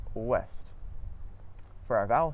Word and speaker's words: ouest: OU at the start of the syllable makes a W sound, just like in the words woman and west. Some French examples of this are oui and ouest.